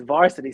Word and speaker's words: VRSTY: don't get it like it's yo it's varsity son like it's not birthday i get it you're